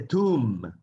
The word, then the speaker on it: tomb: Tumba en inglés se dice tomb. Tomb. Como pueden ver, tiene una B al final, pero no se debe pronunciar esa letra.